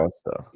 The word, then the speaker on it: Worcester: The way he pronounced it, because you don't say the ER, it's the AR. Worcester.